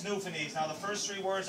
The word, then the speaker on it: Newfoundland: a black horse is a beer a good newfoundlander and it's pronounced newfoundland not newfoundland or new finland newfoundland is the oldest settlement in north america